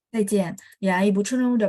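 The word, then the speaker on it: 再见: Zaijian. Ya, Ibu Chunrong udah bacanya dengan benar.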